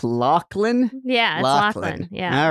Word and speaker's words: Loughlin: I have to flag immediately that her last name is actually pronounced Lachlan Lachlan yeah so I'm gonna